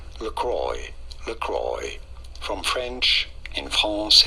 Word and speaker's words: LaCroix: it in the US this is said as lroy lroy from French in France it is said as laqua laqua meaning the cross